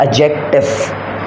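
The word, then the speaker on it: adjective: से याद रखें की यहां पर दी आपके पास साइलेंट है तो इसको आप पढ़ते हैं एडजेक्टिव एडजेक्टिव किसे कहते हैं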